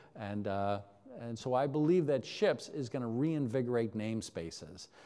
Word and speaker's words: SHIPS: SHIPS is, I don't even know what the heck SHIPS stands for. Simple Hierarchies in PowerShell. It's very important to pronounce the P, SHIPS.